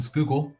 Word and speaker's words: Schuylkill: if so was telling you good job on pronouncing Schuylkill earlier it's a lot of people can't say